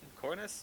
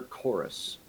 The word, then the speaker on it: Chorus: after corus is that how you say it I'm sorry it's sir chorus chorus sorry after chorus basically just